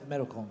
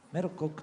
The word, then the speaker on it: merokok: I know only selamat datang and dilarang merokong. Oh, merokok dilarang. Merokok.